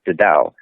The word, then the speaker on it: DeTao: Our organization is called DeTao, which is DETAO, which means it's actually pronounced DeDao, which means the way.